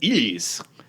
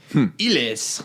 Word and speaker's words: Heelys: Oh, and I did find a French commercial that pronounces it Heelys, no H. Heelys.